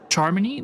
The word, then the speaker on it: Charmony: Charmony? That's how they say it.